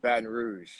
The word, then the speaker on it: Baton Rouge: So, you were born in Baton Rouge, Louisiana, if I'm not mistaken. Is that correct? Well, it's pronounced Baton Rouge.